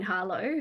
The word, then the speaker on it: Harlow: star is uh Gene Harlow who there was another actress or maybe it was Eleanor Roosevelt who used to say um that the tea is silent so Gene Harlot um was